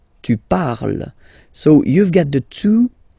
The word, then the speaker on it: parle: And the last one, so even if you've got this E-N-T, well, don't hate me, but you won't pronounce these letters, okay? You have to write them for the plural form, but you don't pronounce them, so you get il parle, elle parle.